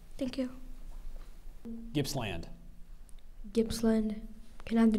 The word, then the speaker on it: Gippsland: Gippsland. Gippsland. Can I have the definition? Means a region of Australia extending along the coast in eastern Victoria from near Melbourne to the border with New South Wales. Gippsland.